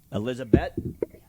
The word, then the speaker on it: Elizabeth: Is it Elizabeth or Elizabeth? Mancher, how do I say this name properly so I don't insult her? Elizabeth? Like bet. Elizabeth.